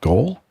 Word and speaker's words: GOL: Is it GOL, G-O-L, or G, or how would you, is it pronounced GOL? Like GOL? Yeah, like on a football pitch or no field.